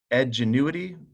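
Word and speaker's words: Edgenuity: online or outside company edge annuity it's how it's pronounced that's if we're going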